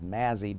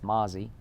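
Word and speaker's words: Mazi: pronounce his first name I thought it was Mazzy but it's Mozzy okay you got me but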